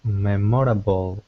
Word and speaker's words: memorable: If there are clowns at the party this birthday, will be memorable. I don't know how to pronounce it. Good. Memorable. Memorable. Close. Memorable. Memorable. Memorable. Again, so we don't really pronounce that OR sound.